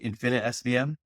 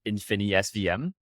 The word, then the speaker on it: InfiniSVM: And am I pronouncing that right? Infinite SVM? yeah, so it's like InfiniSVM.